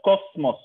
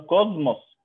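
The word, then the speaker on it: κόσμος: اوكي، يعني زي ما بقول كوزموس لما يكون بعدها حرف المي فنقول كوزموس، ما بقولهاش كوسموس، بنقولها كوزموس.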